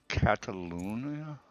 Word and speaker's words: Catalunya: In this particular instance, we're heading over to Spain, to the track that's called Catalunya, I believe is the way you pronounce it.